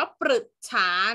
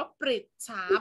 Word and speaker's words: ปฤจฉา: นี่ ประดิษฐา นะ คะ ปฤจฉา เรา ไม่ อ่าน ว่า ปรึกษา นะ เรา อ่าน ว่า ปฤจฉา เพราะ ว่า ตัว ที่ อยู่ ข้าง หน้า เป็น ประปา นะ คะ เรา จะ อ่าน หรือ ไม่ ได้ นั้น เรา ต้อง เป็น ริ นะ คะ อ่า ปฤจฉา นะ คะ